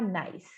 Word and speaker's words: nice: 99% das palavras que terminam com E em inglês, o E vai ser mudo, tá? Não todas, porque tudo tem exceção, porém, eu diria que a grande maioria. Então, o último som vai ser a letra que vem antes do E. Aqui no caso do nice, é o C com som de S. Então, fica nice.